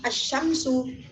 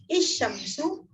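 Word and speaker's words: الشَّمْسُ: Meskipun tidak diberi fathah dalam mushaf braille, tetap dibaca A, berbunyi vokal A. Tidak bisa dibaca I, tidak bisa dibaca U. Jadi dibacanya asyamsu, bukan isyamsu, bukan usyamsu. Gitu ya.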